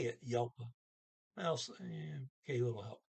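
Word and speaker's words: hjelp: there's an h there starts with an h but it's silent i mean well h j is still a j so you call it silent and it's just it's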